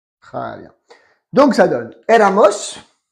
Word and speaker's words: éramos: Donc ça donne éramos. Attention, il y a un accent sur le premier E.